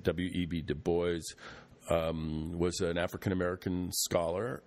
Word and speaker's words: Du Bois: you who don't know w.e.b du bois i think is the proper way to say it w.e.b du bois um was an african-american